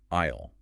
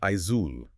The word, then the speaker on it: aisle: You look at those letters, you apply standard phonetic logic, and your brain screams that it should be pronounced Aizul or Aisli. The S is entirely silent.